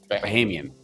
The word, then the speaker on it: Bahamian: Maybe it'll be the Bahamian. How do you say that? Bahamas? Bahamian.